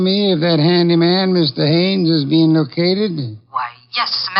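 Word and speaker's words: Haines: Hines used to fish out no no not Hines Haynes couldn't be Huntingburg no it couldn't be the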